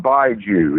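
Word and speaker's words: 白酒: beverage out of it I think is pronounced bide you it's Bai ji new rule it's just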